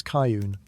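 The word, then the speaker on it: Charon: Even if you've never quite been sure how to pronounce his name, it's Caillun, for the record, though he doesn't seem the type to correct you.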